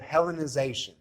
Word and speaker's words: Hellenization: first century in Palestine, is this idea of Hellenization. Do you have any idea what that might mean? How's it pronounced?